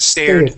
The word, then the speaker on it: stared: It wasn't stared. Oh, yeah, there it is. Stared. Stared in horror. Yeah, stared in horror. Okay, good. Stared. Okay, Stared. yeah, and that's that D sound at the end.